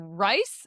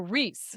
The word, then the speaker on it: Rhys: So do you call him Rice or Reese? It's Reese. Reese. I was calling him Rice. Riceland. No, it's Rhysland and Reese.